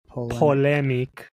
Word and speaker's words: polemic: you say p o l m i c poic I was right writing hey a speech or